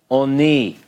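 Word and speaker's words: עֳנִי: In this example, this is a short sound, so it would technically be oni. So here it represents the O sound, the O class, and oni means affliction, okay?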